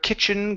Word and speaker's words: kitchen: we have the word kitchen give me a short I here instead of key kit it's kitchen the kitchen table kitchen table good